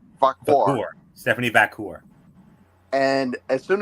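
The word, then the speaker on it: Vaquer: How do you pronounce her name? Vacour.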